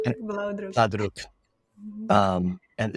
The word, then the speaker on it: Blaudruck: Is that pronounced Mm. correctly? Blauwdruk, And blauwdruk. Blaudruck.